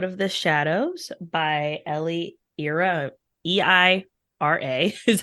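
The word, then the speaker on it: Eira: So I have really been enjoying the song Out of the Shadows by Ellie Ira, E-I-R-A is how you say their last name.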